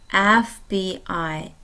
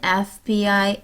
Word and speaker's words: FBI: FBI 같은 경우는 모음 에 발음으로 시작하는 단어예요. 그래서 관사를 쓸 때 on hour, 1시간, on FBI agent, FBI 요원 1명, 이런 식으로 되는 거예요.